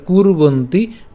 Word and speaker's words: কুর্বন্তি: সো রেফ যেহেতু আছে, রেফের উচ্চারণটা আমরা জানি যে র হসন্ত উচ্চারণ করি, তাহলে কু এর সাথে আমরা উচ্চারণ করে ফেলবো, তাহলে কুর্বন্তি ভারত। এরপর কুরিয়াত, কুরিয়াত কেন?